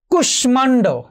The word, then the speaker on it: কুষ্মাণ্ড: যেমন ধরো কুষ্মাণ্ড, মফলার উচ্চারণ হয়েছে।